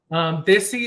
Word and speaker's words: Desi: On Instagram, Desi is means from the homeland.